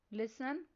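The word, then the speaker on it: listen: Next word है home. इस word में साइलेंट लेटर डब्ल्यू पर सर्कल करना है। नेक्स्ट वर्ड है लिसन।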